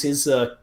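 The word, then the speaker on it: Aytch: of war Sam Watkins his company I and I say I say H that way because it's spelled company ayt CH because he wants you to pronounce H like a Confederate would owe company H so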